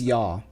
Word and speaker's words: ja: But we use ja. Which is pronounced a little bit differently. Jawohl. Essen die Scheiße. Oh yeah. Exactly. Like in, actually, funny enough, we do pronounce it like they do in Fargo. I think that's the closest.